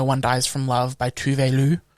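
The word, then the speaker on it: Tove Lo: Dies From Love by Tuvelu. Did you know that Tovlo is pronounced Tuvelu? That's not how it's spelled. That's not how it's spelled, it's how it's said.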